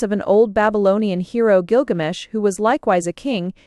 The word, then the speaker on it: Gilgamesh: it with guilsh pinches's discovery pointed conclusively to the popular pronunciation of the hero's name as Gilgamesh and since a lean